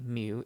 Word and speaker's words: mu: It is pronounced mu.